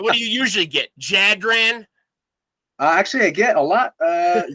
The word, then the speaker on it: Jadran: Yeah, the J is Y sound. Yeah, that's true. So what do you usually get? Jadran?